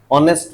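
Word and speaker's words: honest: जैसे hall help ऑनेस्ट में आएगा क्या ये ऑनेस्ट में नहीं आएगा क्योंकि ऑनेस्ट की स्पेलिंग एच से शुरू हो रही है लेकिन बोला किससे जा रहा है ओ से बोला जा रहा है इसलिए इसमें ऑनेस्ट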